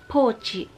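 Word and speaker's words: ポーチ: Ang tawag din nila dito, pochi.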